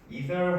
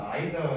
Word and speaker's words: either: 있을 것이고 밑에 보시면은 either 혹은 either 이렇게 할 거예요. 쌤들마다 발음이 다른데 뭐 either, either 둘 다 쓴다.